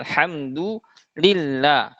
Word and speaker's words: alhamdulillah: Selanjutnya lafaz Allah alhamdulillah. Nah, biasanya sama kesempurnaan harakatnya, kasrahnya biasanya kurang jelas. Alhamdulillah, lillah. Dibacanya lillah, padahal harusnya li dibaca, kasrah dibaca, i yang jelas, yang dimana kasrah itu akan sempurna apabila kita menurunkan rahang kita.